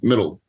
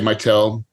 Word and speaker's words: Mittal: listening closely it's middle right right that's right most people say might tell we're gonna say middle because that's the correct way to say it yeah so uh tell